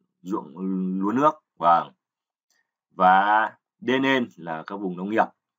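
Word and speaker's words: 田: Âm ông Yomi thì ta đọc là Den. Âm cưng Yomi, cưng reading thì chúng ta đọc là Ta và Da.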